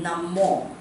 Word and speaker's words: Namo: Because O it should be a long sound. Okay. So it should be Namo.